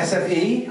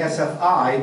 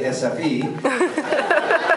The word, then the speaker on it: SFI: I've been going the sfe I used to call it SFI but I know how to say sfe so it's it's more fun for me to say sfe because now I'm being Swedish I guess all right did